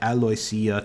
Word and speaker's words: Aloysia: name was aloia oh hey and I did pronounce it right aloia telfin thank you pronunciation guide um but yeah